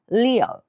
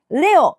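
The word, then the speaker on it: Leo: それから獅子座 we are ですねレオではなくですね EE の音ですそれから乙女座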